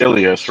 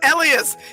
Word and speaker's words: Elias: not least we have Elias played by Cornelius you know it's pronounced elas right it has always been pronounced elas he even changed the spelling so you people could say it right listen listen listen what